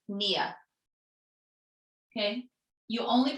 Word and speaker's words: pnea: You don't pronounce the P, so it's not pnea, it's Nia.